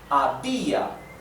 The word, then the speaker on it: había: Abia, the accent is on the letter I, on the vowel I. So because of that, it's as if it becomes strong vowel. Therefore, abia. Therefore, we have two strong vowels.